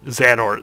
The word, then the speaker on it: Xehanort: I'm not even gonna try to pronounce that from fucking Kingdom Hearts 3. That's not even worth it. Oh no. Xehanort. Xanort.